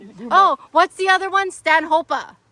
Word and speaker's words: Stanhopea: So, we've been pronouncing it Stanhopea.